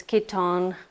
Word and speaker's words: Kiton: oh no no ads that is how you pronounce this next brand I've been saying kiten this whole time it's Kiton this brand is very expensive can you see